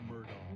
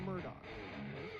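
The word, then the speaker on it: Murdaugh: it Murdo Alex Murdo uh murder truck it's murdog no it's murdog it looks it's spelled it's spelled murdog pronounced murdog CU I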